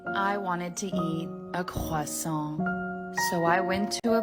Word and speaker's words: croissant: In American English, we do not say croissant. That's French. In English, American English, we say croissant.